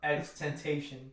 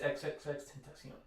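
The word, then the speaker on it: XXXTentacion: A lot of people would call him X Temptation, but it's XXX Tentacion.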